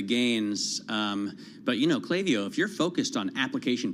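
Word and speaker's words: Klaviyo: ipo's Matt we had clavio clavio is the correct way to pronounce that company which is a back-end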